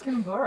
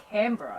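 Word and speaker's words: Canberra: yeah C it's not Cur it's not Cur it's CRA yeah CRA that's a popular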